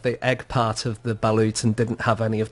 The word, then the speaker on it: balut: So this is balut.